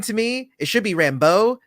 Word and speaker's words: Rambeau: the show, which is Rambo, which is kind of annoying to me. It should be Rambeau, not Rambo. It's where you place the accent, and it just makes